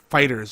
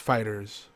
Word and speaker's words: FighterZ: And we're tentatively titling this one Dragon Ball FighterZ, which is supposed to be pronounced Fighters, apparently.